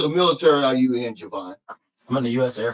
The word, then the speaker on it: Jevon: who's going places in the world name is Javon did I pronounce that right yes sir yes you did Javon yeah I'm going give you a little context